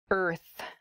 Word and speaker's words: Earth: It is the word Earth. Earth. That R and the TH sound can be difficult to pronounce together.